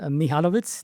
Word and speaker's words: Mihalovits: Okay, so my name is Mihalovits. That's how you would pronounce it correctly.